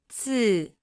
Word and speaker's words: 字: 字字字字字字 Se pronuncia con el cuarto tono.